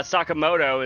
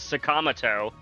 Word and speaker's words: Sakamoto: They're also convinced uh Sakamoto is Sakamato.